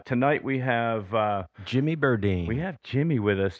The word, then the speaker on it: Berdine: and I didn't yeah everybody is Siri even pronounced it wrong hey Siri who are the members of kicking Valentina Jimmy burdini oh great Hey listen I've got my last